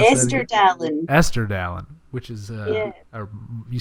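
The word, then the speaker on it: Estirdalin: How do you pronounce that Esther again? Dallin. Esther Dallin, which is, Yeah.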